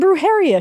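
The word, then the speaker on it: brujería: Brujeria. Oh, roll that R, girly. I know you can.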